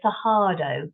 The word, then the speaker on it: Cerrado: a rather hallowed word the Sado or the saho as it's pronounced uh in Portuguese and this is the